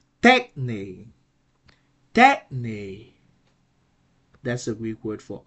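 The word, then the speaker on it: τέχνη: a two syllable word we have an acute accent that will that will um rise the tone on that will increase the tone on the first syllable so the right pronunciation would be tech tech that's a Greek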